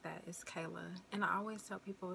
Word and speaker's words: Kaylia: name right there the aya Simon it's not pronounced Kalia it's not pronounced Kalia or anything like that is Kayla and I always tell people just like the